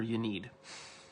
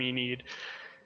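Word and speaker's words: Ynnead: Some people pronounce her Yenid. Some people pronounce them Enid. It's hard. I could try and switch to Enid if it's easier. No. It's all good. I say Iniad because it's Inari.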